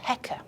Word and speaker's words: Heka: It's basically a crook, a sceptre, and that's written with two symbols, and that's pronounced Heka.